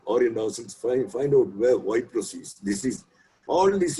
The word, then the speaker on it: Ypres: Incidentally, YPRES, the Y pronounced as E, is a town in Belgium on its border with France.